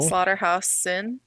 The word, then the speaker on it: Schlotterhausen: So it's Nathalie, the H is silent, and then Slaughterhouse, like a slaughterhouse. Cool. Slaughterhouse-in, and then dash hyphenated Jones.